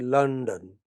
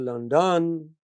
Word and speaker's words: London: And you say London. Main stress on the initial syllable. London. Where is the main stress? London. Not on the second syllable. You don't say London.